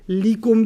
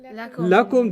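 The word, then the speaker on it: لكم: But the same li, whenever it wants to beat up on a pronoun, you can't say li. You say la. Okay, it's the same lam, harf of jar, But the only time it's pronounced la is when it's working on a pronoun. So you don't say likum dinukum waliyadin. Okay. What do you say? Lakum dinukum.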